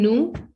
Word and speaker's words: nous: It's same, nous, N-O-S, nous. So we are not producing the sound of S and O. No, until and unless it don't need to combine with the vowel. Here you're going to pronounce it nous amis. Separately, it's called as nous.